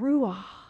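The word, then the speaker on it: רוח: the same breath as the Hebrew word Rua I tell children that this is the oldest word for God if you say it right it sounds like breath or true breath is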